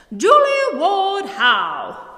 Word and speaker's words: Julia Ward Howe: her name all wrong in order to say her name appropriately you need to pretend that you are a feisty writer abolitionist suffragette anti-war activist believer in temperance proper bostonian lady who was also a unitarian you've got to say it like this julie woodhou with all that identity